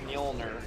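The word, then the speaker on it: Mjölnir: pronounce names um well it's like mjolnir the J is not pronounced I believe short of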